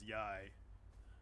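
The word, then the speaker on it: Yae: Keep saying yay but yai.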